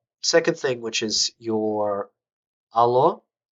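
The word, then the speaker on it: алло: You say allo when you're on the phone. It's not hello. So allo is, you might also hear it sometimes pronounced as allo, like as if there's a Y in there.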